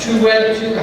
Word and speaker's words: Toure: And Maj Toure, how do you pronounce his name, Tom, again?